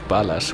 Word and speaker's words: Ballas: of a peculiar name since Ballas can be pronounced Bas which means bullets in Spanish but